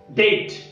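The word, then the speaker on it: debt: शब्द बघा डाउट, डाउट, doubtful, doubtful, subtle, subtle, सटलटी, सटलटी, डेट, डेट, डेटर, डेटर, डेटरशिप, डेटरशिप.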